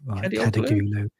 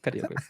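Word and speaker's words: Kadıoğlu: Kadioglu, that's right. Kadagulu. That's probably the worst mispronunciation. Kadagulu, wasn't that a band in the 80s? I'm sure it was. Kadioglu.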